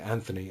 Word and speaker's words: Anthony: Just to clear that up, in England, Anthony is normally spelt with an H, but it's pronounced without an H.